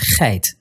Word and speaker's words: geit: For Dutch words, G is generally pronounced g as in geit, but English loans use g